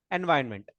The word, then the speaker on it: environment: integrated development environment okay spelling may be in ironment looking like but we need to pronounce it as environment right IDs what the